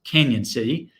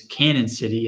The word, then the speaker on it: Cañon City: bite there by the way it is apparently pronounced canyon city um you may think it is canon city if you just looked at it the pronunciation